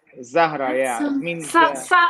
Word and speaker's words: Zahra: I'm also launching another big project called What Zahra. is it? Sahara. Yeah, it's Zahra.